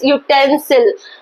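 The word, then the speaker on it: utensil: Vowel लिखा हुआ है, लेकिन इसका प्रोनाउंसिएशन यानी साउंड, प्रोनाउंसिएशन साउंड क्या होगा इसका, यूटेंसिल, यूटेंसिल। तो यू, वाई यू, it means consonant sound.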